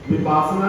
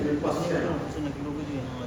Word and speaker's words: विपस्यना: विपासना नहीं कह रहे, दैट इज विपस्यना, दैट इज विपस्यना।